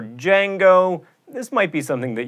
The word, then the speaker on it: Django: Aphthongs are silent letters in words like knife, or fight, or Django.